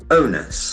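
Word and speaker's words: onus: o n u s the letter is O but the sound is O the D owners owners the responsibility or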